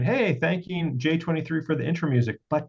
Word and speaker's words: Jxxiii: XX I I I so like Roman numerals pronounced j23 Joyce Ln or j23 is a nigerian-american rapper